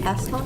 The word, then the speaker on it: Astrop: I think I'm saying it correctly. He's A-S-T-R-O-P. Astrop? Astrop, yeah.